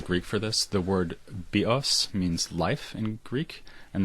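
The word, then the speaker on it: βίος: for this, the word bios means life in Greek, and the word bios, with the stress on the second syllable, means bow, as in bow and arrow.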